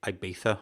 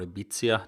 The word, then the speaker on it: Ibiza: in a place called ibiza or ibiza depending how you pronounce it in spain and they